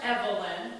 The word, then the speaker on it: Evelyn: Evelyn. 3 syllables, is it? Of course, Evelyn. It's always been 3 syllables, Charles.